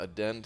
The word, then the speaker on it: addend: Is it not addend? It's addend. Add end. Oh jeez.